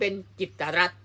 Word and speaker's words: กิตติ์รัฐ: ถ้า อย่าง นี้ จึง จะ ออก เสียง เป็น จิตรัตน์ นี้ คือ คำ อ่าน ชื่อ ของ ท่าน ผบ